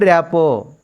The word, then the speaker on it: rapport: She was able to establish, established a good rapport, rapport, RT is silent, with the children.